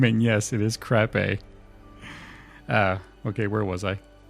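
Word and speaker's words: Krappe: in now don't laugh in crap a Baylor crape I looked up the pronunciation of this last name and yes it is crape uh okay where was I Baylor Pages 114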